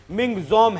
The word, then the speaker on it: Michaung: मायामा ने दिया है जिसका अंग्रेजी में उच्चारण मिंग जम है इस शब्द का मतलब